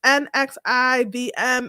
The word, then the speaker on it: NXIVM: I never know how to pronounce this. NXIVM. It's NXIVM.